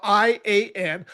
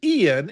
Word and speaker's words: Ian: You know, his name is spelled I A N. I thought it was Ian.